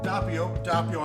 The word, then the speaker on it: Doppio: Doppio. I keep saying it wrong. My wife keeps telling me it's Doppio Pepperoni. It's Doppio? Doppio Pepperoni.